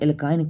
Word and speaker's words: एल्काइन: ठीक और जैसे ही बोला एल्काइन तो क्या आया आइन एल्कीन जब आएगा एल्कीन